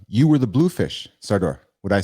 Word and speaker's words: Sardor: You were the blue fish, Sardor.